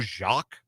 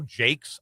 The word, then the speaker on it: Jacques: And then Seattle traded him to the Dodgers for some guy Joe Jacques or Jacet. No, Joe Jakes, I'm sorry, that's how you pronounce his name.